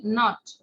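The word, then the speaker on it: naught: N-O-U-G-H-T, not. এটার উচ্চারণটা হচ্ছে not.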